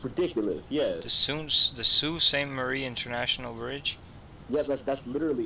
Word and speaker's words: Sault Ste. Marie: hell do you pronounce It's that? Sault Ste. Marie.